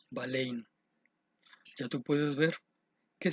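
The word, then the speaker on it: βάλλειν: y la parte de un verbo en griego que se pronuncia valen ya tú puedes ver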